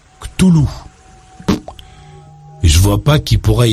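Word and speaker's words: Cthulhu: Ch'tulu, lui-même, enfant de cœur, note pour toi, on prononce Ch'tulu.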